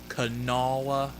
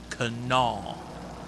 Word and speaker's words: Kanawha: across the river from me in kanawha county canala county it's pronounced canal okay it might be spelled cano wall it's